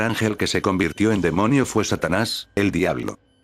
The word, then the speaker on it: daemon: y folklore un demonio o daemon Demon que se pronuncia Demon cuando nos preguntamos Qué